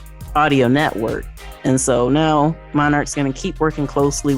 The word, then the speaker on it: MNRK: myself but um yeah it's actually pronounced monarch so they're going to